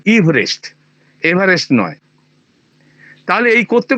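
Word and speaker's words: Everest: হচ্ছে আমার নামের বানান এভারেস্ট ওরা সবাই এভারেস্ট এভারেস্ট করবে ভারতবর্ষের লোকজন কিন্তু আমার উচ্চারণটা নামের উচ্চারণটা হচ্ছে ইভেস্ট ওই মাঝখানে ওই ইটার কোন উচ্চারণ নেই ইভারেস্ট এভারেস্ট নয় তাহলে এই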